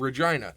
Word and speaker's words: Regina: at the University of Regina in Saskatchewan which everybody's gonna pronounce wrong of course oh yeah because people are dumb it's not Uranus guys no it's still funny